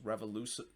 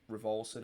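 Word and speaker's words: Raveloson: I thought it was pronounced Revolution, but then the more I hear it, especially from the Galaxy feed, it's been pronouncing Rivalson.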